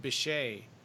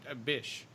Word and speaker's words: Bechet: know that Lorri Markel her last name is pronounced Bechet I think I said a bish yeah that's that's kind of a risky way of pronouncing it yeah so sorry about